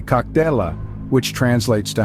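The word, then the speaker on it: Как дела: In Russian, you would say "Kak dela," which translates to "How are you?" It is pronounced as "Kak diela."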